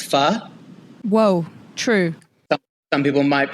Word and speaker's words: pho: It reminds you how to pronounce pho. Whoa, true. Some people might be out there calling it pho. And they said it's fanatic. It reminds you of the word fanatic. Like, I don't think we hear that often.